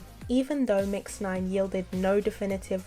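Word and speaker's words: Yves: a girl called Eve Eve pronounced like Adam and Eve and not yees Eve's real name is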